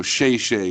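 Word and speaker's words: xièxie: Like, you know, Shay Shay is thank you, and that's XIE in Pinyin.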